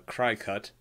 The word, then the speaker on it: Cricut: the the cricket or as I like to call it the cry cut because it's not spelled like cricket for one and for